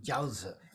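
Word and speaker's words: 饺子: So dumplings are pronounced jiaozi.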